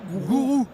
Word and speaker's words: guru: Vous êtes VIP International Sales, j'adore prononcer comme ça les mots et de d'une société cyber guru gourou gourou cyber gourou mais ça s'écrit guru. Voilà gourou.